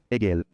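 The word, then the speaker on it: עגל: lettre Aïn, la lettre Gimel, la lettre Lamed, prononcée en hébreu, Egel.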